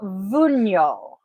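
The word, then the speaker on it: Wunjo: had this one and I'm pretty sure I mispronounced it but it is vuno the Divinity is frig the letter is W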